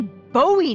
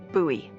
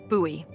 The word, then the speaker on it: Bowie: no warning he pulls out this huge Rusty Bowie knife it's actually pronounced buoy what no it's like the last name like David Bowie different last name buoy are you just messing with me no that's